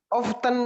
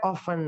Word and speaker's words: often: apa ya often you often itu ada dua bacanya tanya dihilangkan boleh dibaca often boleh oven boleh check-out Jika bos dua-duanya benar Om often boleh tanya dibaca often boleh oven juga boleh kamu takutnya ketemu sama